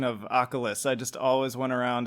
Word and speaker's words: Akhlys: Furthermore, beyond that, of course, at any point I could have just shifted it over and said, this is Akhlys, this is Nightbringer.